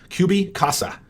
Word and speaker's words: Cubicasa: and maybe two s's pretty sure that it's kubi kubi like as in cubicle qb casa like as in uh spanish for house i have no idea if